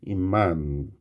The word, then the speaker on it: 입만: 그래서 비읍이 미음으로 최종적으로 발음 나는 거예요. 비음화. 비음화. 마지막은 임만.